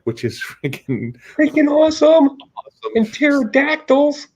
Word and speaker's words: pterodactyls: And pterodactyls. Pterodactyls. The P is silent, though.